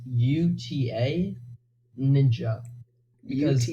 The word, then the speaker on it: utaninja: since I'm allergic out and how do you pronounce your name is a Utah ninja is it Buddha ninja Adonijah so the versions of people think it is is Bhutan ninja Utah it's from David you know what I